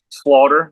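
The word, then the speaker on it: Schlater: Slaughter. Like a slaughter house, but it's spelled Yeah.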